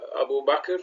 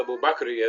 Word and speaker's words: Abu Bakr: So Mansa Abu Bakr, or Mansa Abu Bakri as it's pronounced in West Africa, you'll find variations of how they recite or say specific names.